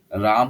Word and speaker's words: Rama: রাম তো লিখবে সবাই, কিন্তু রামা অ্যাকচুয়ালি রাম ওর ওর নামটা হচ্ছে RAMA, ঠিক আছে? তো ওইটা বলতে হবে। এগুলো সংস্কৃত টার্ম থেকে এসেছে তো ওই জন্য ওরকম উচ্চারণ হয় ওদের।